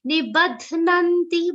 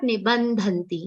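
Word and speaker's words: निबध्नन्ति: Ba is followed by half the and a complete na, and not nibandhanti. Nibandhanti is another very commonly mispronounced version of this word. Dhanti makes the dha sound complete. Here dha is not complete. Here dha is half.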